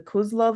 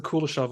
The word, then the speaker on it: Kuleshov: film school was the Kozlov effect. Yeah, I know it as the Kuleshov effect. Yes, that's probably the better way to pronounce it.